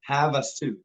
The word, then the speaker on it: Havasu: where exactly is Lake Havasu City in Arizona let's start with how it's pronounced it's pronounced Havasu Havasu okay got it thanks